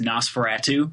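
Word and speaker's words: NOS4A2: It's a license plate, and it's said phonetically, it's Nosferatu.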